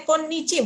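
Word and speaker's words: 今日: Ternyata bacanya konnichi bukan kyo ya.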